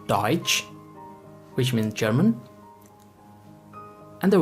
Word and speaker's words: Deutsch: Our next letter combination is T as ch, which is pronounced like the letter combination of ch in English. Here we have the example of Deutsch, which means German, and the word Tschüss, which means bye.